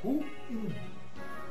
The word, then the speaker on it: ruim: Como devo pronunciar? ruim ou ruim. O vocábulo em questão é óxito, é ruim. Eu estou muito ruim e não muito ruim.